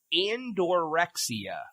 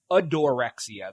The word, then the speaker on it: Adorexia: What is andorexia? No, I'm sorry. Adorexia. There's no N.